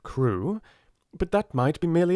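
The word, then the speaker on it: Crewe: difference in the name madame pascal pronounced it as if it were carew instead of crew but that might be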